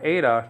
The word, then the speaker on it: Eta: that we saw that this letter Ada nowadays called ETA on Modern Greek okay is critical letter